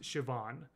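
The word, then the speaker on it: Siobhan: Irish Irish um and even in spite of the way it looks it's pronounced shoban um and that's basically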